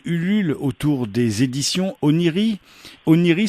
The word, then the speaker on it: Oneiroi: Oniri, ça s'écrit OneiroI, Onei Roi, si je le prononce à la France.